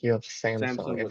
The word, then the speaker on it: Samsung: Yeah, that's like a amp that I can't pronouncing it probably. And on the right looks like you have Samsung. Samsung or Samsung?